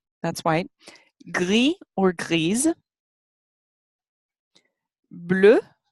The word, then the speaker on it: bleu: Bleu, which takes an E when it's feminine, but it's pronounced the same way.